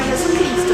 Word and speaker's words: Jesucristo: Se você for falar a palavra sozinha, Jesus, você vai falar Jesus. Se você quiser falar Jesus Cristo, você vai falar Jesucristo. Jesucristo é el Senhor, certo? Tudo junto. E não se esqueça que o som de J tem som de R na pronúncia, tá?